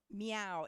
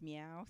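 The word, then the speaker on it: Min: Okay, so why we're changing, we have meow. It's, you know, it's spelled M-I-N, but it's pronounced meow. So it's meow.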